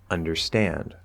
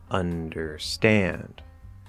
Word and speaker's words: understand: have two stresses like understand understand understand the primary stress or the main stress is on that last syllable but the un is also stressed in that word and then some